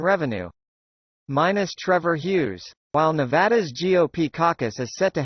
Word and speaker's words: Nevada: The state is pronounced Nevada, not Nevada, according to locals.